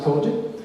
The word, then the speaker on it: COGIC: These have been in the church that I studied, the COGIC, it's pronounced Kojic.